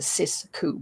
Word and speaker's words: Sixku: So it's the Sixku, and it's spelled Sixku, but because I'm French and it's poetic license, I decided to say it's a Sixku, because 6 in French is pronounced as six.